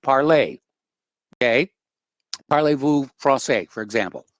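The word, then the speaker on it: Parler: uh free speech application parlay i know a lot of people call it parlor because of the way it's spelled but it's the french pronunciation the word means speak parlay okay parlez-vous francais for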